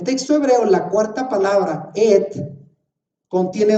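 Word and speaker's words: את: Ahora, ya transliterado, ¿cómo se pronuncia en español? En esas 7 palabras dice Bereshit, Bara, Elohim, Et, que es la palabra que no traduce, et ha-chamayim beet ha-aretz.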